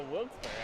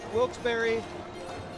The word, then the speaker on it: Wilkes-Barre: verdict is that it's Wilkes-Barre. They say that Devastating news. it's Wilkes-Barre. Some people pronounce it Wilkes-Barre. All incorrect pronunciations, because there was Wilkes, a gentleman named Wilkes, and a gentleman named Barry.